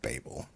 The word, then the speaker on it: Babel: It's pronounced Babel. It would be Babel if there were two B's.